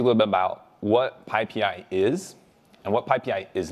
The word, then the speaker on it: PyPI: Python Package Index, which is how do you pronounce that? The answer is PyPI, and I made this handy graphic for all of you just so you can remember. All right. So not pi pi, not anything else, PyPI.